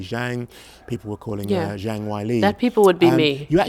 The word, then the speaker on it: Zhang Weili: Well, I will admit that I thought Zhang Weili, say it correctly now, Zhang Weili was going to win, but I did not anticipate a KO in 42 seconds.